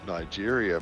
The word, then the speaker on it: Nigeria: word like that but that's not how you pronounce it you print you pronounce it Nigeria mate oh he's